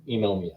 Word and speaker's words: Inomia: That's how we pronounce it. Yeah. It's almost like pneumonia, but Inomia.